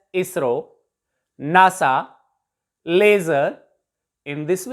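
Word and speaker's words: ISRO: थे world for example इसको हम आई एस आर ओ नहीं बोलेगी इस कैन bay pronounced S इसरो NASA laser beam है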